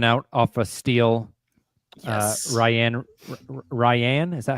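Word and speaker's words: Rayan Rupert: Ryan, is that how you say it? Right. Ryan Rupert.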